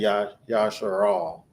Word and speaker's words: Jasher: But when they say Jasher, like the book of Jasher, Yashar, they would say Yashar, right?